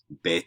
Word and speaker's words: bet: to english letters um bet is like a b and vet without the belly